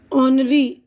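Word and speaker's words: honorary: नमूना मलाइन बदनाम अब एच की आवाज यहां साइलेंट है देखिए ऑनरी यानी एजाज जिसी को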